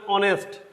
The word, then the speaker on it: honest: যেমন আমার এখানে অনেস্ট, এইচ এর উচ্চারণ হয়ের মতো না হয়ে অয়ের মতো হয়েছে, সো এখানে এ না